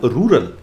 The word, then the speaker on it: rural: इज रूरल बट ऑल रूरल इज not agriculture. अब थोड़ी सी आपको इंग्लिश भी पढ़ा दूं, ये जो रूरल शब्द है एक्चुअली इसका जो टेक्निकल प्रोनाउंसिएशन है वो है रूरल।